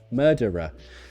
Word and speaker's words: murderer: Who is the murderer? So again, we've got two schwas linked with an R.